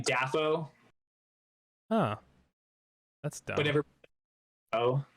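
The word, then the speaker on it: Dafoe: of right now william defoe actually though and everybody's been pronouncing it wrong for the past 40 years i just learned that wait what is it william daffo huh that's done whatever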